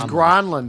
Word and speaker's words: Granlund: Was it Mikhail? Granlund. Gronlund. It was Gronlund. That's what Doc said, and they. I think they finally said stop it. Everyone just calls him Granlund, Doc.